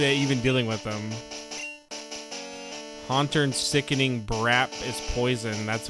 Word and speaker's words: Haunter: Haunter. What did I say? Ha. Did I not say it right? Oh, cuz I said ha turn. It's haunt.